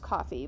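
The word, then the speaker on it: Ko-fi: um but with coffee it's it's pr it's pronounced coffee but it's spelled i think it might have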